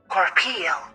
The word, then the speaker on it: corporeal: Or do you It does, yeah, it Corporal does. versus corporeal. Incorporeal. There we go. Corporal. Incorporeal. Corporeal. Corporal. I see. It's a syllable difference.